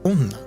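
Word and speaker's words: 女: refers to he, and then jo is one of the ways you pronounce the character for female or woman. So by itself, this would be read onna, but can also be read as jo.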